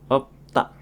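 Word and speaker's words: 읊다: di mana kombinasi ini jika bertemu dengan huruf konsonan maka yang dibaca adalah piepnya saja. Misalkan ada kosakata yang mempunyai arti melafalkan atau mengarang akan dibaca sebagai op ta op ta.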